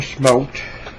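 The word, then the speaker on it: שמות: Friends, go with me to Shemot. Shemot in Hebrew is Exodus. Shemot in Hebrew is Exodus. Shemot is spelled S-H-M-O-T.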